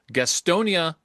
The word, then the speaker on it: Gastonia: call this a It's I'm assuming it's a rhyme, depending on how you pronounce it, but you Gastonia Bolognia. Yes, that's how they wanted to say it.